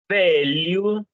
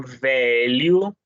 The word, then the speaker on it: velho: Velho. Então, lembrem-se que quando tenho LH, tá bom? Sempre vou pronunciar como li, tá bom? Velho.